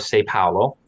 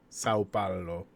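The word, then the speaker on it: São Paulo: yeah which is part of the state of sai paolo sao paolo thank you and the fiefdom that was hernambuco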